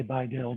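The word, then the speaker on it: BiDil: Biddle rhymes with little. Equally stupid, but again, if it helps you remember it, then use it. I don't say Biddle, I say Bi-Dil, but hey, if Biddle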